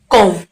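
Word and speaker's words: comb: Okay, यहाँ पर से हम क्या पढ़ते हैं, कॉम। हम बी का उच्चारण नहीं करते हैं तो यहाँ पर बी साइलेंट होता है।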